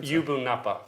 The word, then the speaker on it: Yubu Napa: i just want to check how do you pronounce the name of the gallery again ubunappa give ubunapa gallery it's got a double meaning it means